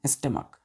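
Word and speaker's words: stomach: एम ए के तो इसका प्रोनंसिएशन कैसे करते हैं स्टमक ठीक है क्या पढ़ते हैं इसको लास्ट में हम लोग के पढ़ते हैं देखि लिखते हैं हम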